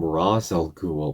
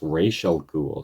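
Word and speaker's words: Ra's al Ghul: because in the Batman Begins they call him razel ghoul but it's pronounced racial ghoul.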